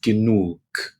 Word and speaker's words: genug: But in German, the pronunciation of G is always hard. That means it always makes a G sound. G, G, G. The word for enough in German is genug.